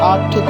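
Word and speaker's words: Arctic: ocean आर्कटिक ocean है इसमें are silent होगा इसको हम पढ़ेंगे आर्कटिक ओशन इसकी लोकेशन सराउंडिंग द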